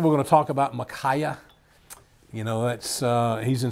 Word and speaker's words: Micaiah: in the Old Testament, if I don't know how to pronounce them, I go and listen to an audio version of the Bible and listen to how they pronounce them, and that's how they pronounce his name, Micaiah.